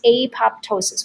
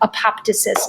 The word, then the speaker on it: apoptosis: it stops dividing and then when it dies apoptosis we mentioned that word a little bit earlier or apoptosis is another way to pronounce it so that's why our cells only